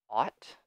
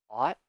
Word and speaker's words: ought: Pronunciation is a little tricky because the spelling is strange. So I'll say it a few times for you to hear the pronunciation. So, ought, ought, ought to.